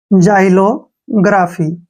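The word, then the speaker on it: xylography: हूं दोबारा जाइलो ग्राफी यहां पर भी एक बात ध्यान से देखनी है कि यह वर्ड एक्स से शुरू हुआ है और एक्स के बाद वा आया है जब भी एक्स के बाद वा आए या फिर ए ई आई ओ में से कुछ भी आए तो वहां पर एक्स का उच्चारण हम ज करेंगे क्लियर आई होप आपके सारे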